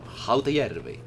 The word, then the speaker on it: Hotajärvi: Let's pronounce that like Finnish people do. Hotajärvi.